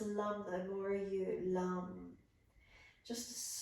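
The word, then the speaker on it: Lam: L-A-M, it's pronounced lum though, more you, Lunge.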